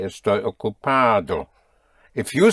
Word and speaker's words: estoy: Estoy is spelled E-S-T-O-Y.